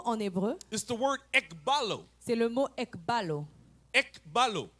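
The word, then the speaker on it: ἐκβάλλω: This word in Hebrew Ce mot en hébreu, is the word ekbalo. c'est le mot ekbalo. Ekbalo. Ekbalo. It is spelled E-K-B-A-L-L-O.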